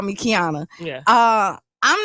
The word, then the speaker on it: Qiana: Uh when people look at my name, sometimes they can't pronounce it because it's the Q without the U.